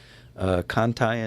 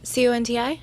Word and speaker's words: Conti: It looks like Conti, but everybody said Cantai, so that's how.